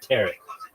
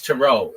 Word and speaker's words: tarot: But this one I'm sure of it's tarot. It's not ter. Nobody calls it terret cards.